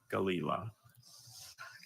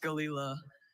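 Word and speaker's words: gelilah: Galila. Galila. G-A-L. E-I-L-A. Galila. I'm sorry, Galila is spelled G-E-L-I-L-A-H.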